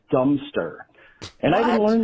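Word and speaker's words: Godmanchester: village that looked like it should have been pronounced God Manchester, but it was actually pronounced Dumpster.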